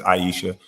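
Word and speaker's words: Ayesha: I think I always said Aisha, but I think it's Aisha Curry.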